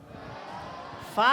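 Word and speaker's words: فاء: হবেন এরপরের হরফটা দেখো ফা বলো ফা ফা ফা ফা ফা বলার সময় আমার দিকে তাকাও ফা বলার সময় শুদ্ধ উচ্চারণ হলো উপরের দাঁত নিচের ঠোঁটের সাথে লাগাতে হবে উপরের দুইটা দাঁত কোথায়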